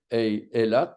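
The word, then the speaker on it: אילת: Je vous rappelle que Aleph, Elat s'écrit avec un tiré et un patach sous le lamed. Donc, on va dire Eilat, on va écrire Eilat.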